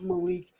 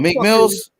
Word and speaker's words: Meek Mill: It's not Malik. I feel like come on, Meek Mills. Meek Mills.